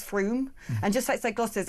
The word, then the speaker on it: Frome: Like at Frome is Froome, and just outside Gloucester there's a place that everyone calls Over, and it's like nice Over.